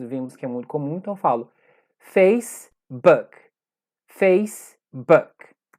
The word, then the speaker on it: Facebook: erro comum que geralmente brasileiro gosta de colocar o hino final de tudo ter a mente brasileiro fala facebook nesse caso específico é facebook esse aqui é um